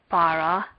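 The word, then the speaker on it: בָּרָא: Bara is separated into 2 syllables. This word does not have any particular marks, so the last syllable of bara would be stressed.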